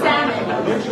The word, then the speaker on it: salmon: No L, and salmon. Lamb.